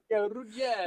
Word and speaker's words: Ruggiero: And I am super excited about Evan Rigirio. Did I say it right? All right, Evan Ruggiero. Yeah, Ruggiero.